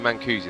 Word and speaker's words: Mancusi: I just had something in my ear just telling me how to pronounce Mancusi, so thank you for that. It's Michele Mancusi, there we go.